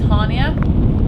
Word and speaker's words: Chania: know to say is Hania, which is the one that looks like it's spelled like Chania.